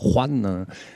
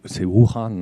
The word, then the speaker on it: Wuhan: Alors, vous prononcez Wuhan comme les gens du Roubaix, c'est bien, hein, Wuhan. Voilà, c'est Wuhan, hein, capitale du Roubaix.